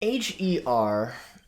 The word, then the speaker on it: H.E.R.: h-e-r or her for those who would rather say her name fully instead of spelling it is an artist i